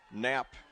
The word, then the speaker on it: Knapp: By the way, piece of trivia, Knapp, or Knapp as it's pronounced, is the German word for button.